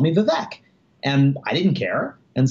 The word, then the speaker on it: Vivek: My name is V-I-V-E-K, and it's pronounced Vivek is the correct way to say it, but it looks like Vivek.